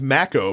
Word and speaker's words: Mako: It is you descending into the first, apparently it's pronounced Mako, by the way.